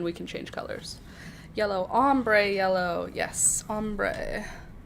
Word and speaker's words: ombre: If ochre is how you pronounce o c h r e, then o m b r e will be umber. Nope, it's not oakray, but it is ombre.